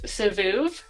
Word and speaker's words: Sivoov: He's the ceramicist behind Sivoov. Is that how you pronounce it?